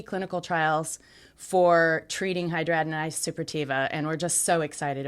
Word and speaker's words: hidradenitis suppurativa: my social security disability practice, I find that hidradenitis suppurativa, I've been saying it this way it's one of the most mispronounced things it's a out long there.